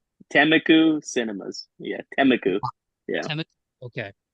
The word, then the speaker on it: Temecula: Yeah, Temeku.